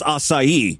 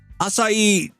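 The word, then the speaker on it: açaí: Acai trips a lot of people up, but boy, did she mangle that one. There's no N, especially at the beginning of the word.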